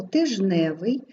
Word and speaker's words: тижневий: в рядочку в є слово тижневий у якому відбувається спрощення приголосних і ми у цьому слові не пишемо його немає воно й не вимовляється Отже звук тут відсутні